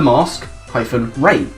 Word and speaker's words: Masquerain: song called Beneath the Mask -Rain. So, Mask Rain. You say Masquerain, but M-A-S-Q-U is mask, it's pronounced that.